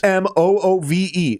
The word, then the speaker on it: Smoove: case, we can go, that's his legal fucking name, Smoove. Because Smoove. That is how you say his last name. Yep. We are not blackizing the word smooth. Yep. He did that already and then legally changed his name to it.